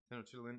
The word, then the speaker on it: Tenochtitlan: Tenochtitlan is how it's pronounced. Yeah, yeah. See, I was right. Okay, yeah, Tenochtitlan.